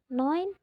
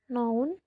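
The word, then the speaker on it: neun: 9 noin. Bukan nun atau noun.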